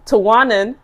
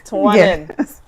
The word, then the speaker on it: Tuwanan: And now we have Miss Tuwanan Ware, because y'all be saying her name wrong. And I'm going to talk about it because it's not Tuwana. She let y'all do that. It's Tuwanan Ware.